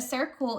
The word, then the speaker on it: circle: It starts with a C. Even though it sounds like it should be an S, the C in circle is what's called a soft C, and it makes the S sound.